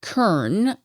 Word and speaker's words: cairn: And here, I'll tell you, K, C A I R N, is pronounced Karna according to the Google dictionary.